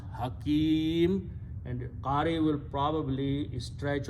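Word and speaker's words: حكيم: word when you stop you do not pronounce Hakimi the last letter should not be pronounced with the harkat it should be sukoon so you pronounce Hakim and Kari will probably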